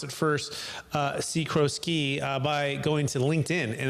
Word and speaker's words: Sikorsky: I'm going to pronounce it first. Sikorsky, by going to LinkedIn, and that's the best way to find him.